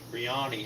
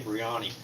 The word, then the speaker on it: biryani: cook chicken biryani tonight Brioni huh don't always say it right chicken biryani it's an Indian dish